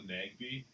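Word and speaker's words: Nagbe: It's Nagby. It's spelled the way it sounds. Nag and N-A-G-B-E. Nagby. Sounds the way it's spelled.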